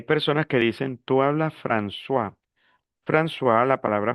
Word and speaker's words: François: Hay personas que dicen, "Tú hablas francois." François, la palabra francois existe, significa Francisco, porque la o con la i es ua.